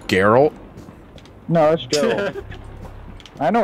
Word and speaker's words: Geralt: you yeah he's raising me real good it's pronounced geralt no let's go I know what I said